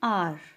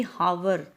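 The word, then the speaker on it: hour: H silent है. Silent means हमें एच की साउंड नहीं आ रही कि हावर, हॉनेस्ट, नो. यहाँ पे हमें साउंड आ रही है आर, ओ, यानी आर, आ, ऑनेस्ट, ओ.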